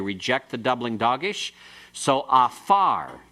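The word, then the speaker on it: עָפָר: So afar, pronounce it, afar. No, it's not gafar. Afar. You just have to remember this doesn't have that deep guttural sound. The ayin is silent.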